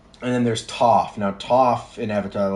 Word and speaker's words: Toph: the tough guy goes, "My name is Toph because it rhymes with tough," and I love that scene.